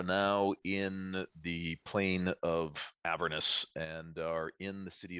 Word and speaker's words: Avernus: We are playing Dungeons & Dragons 5th edition, Descent into Avernus, or Avernus, as I've heard it alternately pronounced.